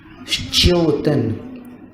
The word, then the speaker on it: श्च्योतन: श्च्योतन, श के स्थान पर मुख को व्यवस्थित कर लो, श्च्यो ऐसा उच्चारण करना है।